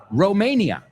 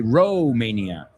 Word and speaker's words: Romania: It took place in Bucharest, Romania. We say Romania, not Romania, Romania.